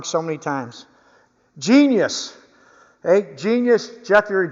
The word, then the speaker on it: Genius: Genesis, or not Genesis. I pronounce this name wrong so many times. Genius.